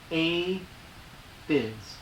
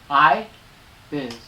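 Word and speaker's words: Aye Biz: Lady Versatile did a song called How I Feel, featuring A Biz. I Biz. A-Y-E. A-Y-E. I'm pronouncing I.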